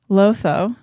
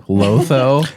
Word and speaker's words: Lotho: Lotho. But it rhymes with Otho.